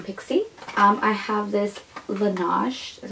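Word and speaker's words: Laneige: that was from pixie um I have this Lage is how you say it it is a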